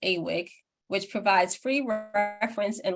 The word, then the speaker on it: AWIC: Its acronym is pronounced AWIC which provides free reference and literature search assistance for questions about Animal Welfare including animal use alternatives.